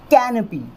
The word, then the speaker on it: canopy: और जो word stress है वो इस वर्ड में इस क वाली साउंड के ऊपर लगेगा। स्ट्रेस जो है क वाली साउंड के ऊपर अपने को देना है, रखना है। तो जब स्ट्रेस क वाली साउंड के ऊपर आएगा तो इस वर्ड को हम किस तरह से प्रोनाउंस करेंगे? कैनपी, कैनपी, कैनपी, कैनपी, कैनपी, कैनपी, कुछ इस तरह से।